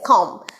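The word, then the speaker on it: comb: number five it is com c o m b the b is silent here and it's a monosyllabic word in monosyllabic word the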